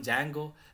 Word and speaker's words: Django: full stack app development there is something called Django and flask DJ and GEOS it's pronounced as Django Django plus flask these are